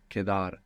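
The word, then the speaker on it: quedar: e d a r Kadar and Q in Spanish is always a k sound you must resist any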